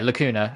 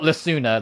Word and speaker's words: Lacuna: That's how she pronounced it. Lacuna. Lakuna. Yeah, Lacuna. Okay. So, not Lassuna.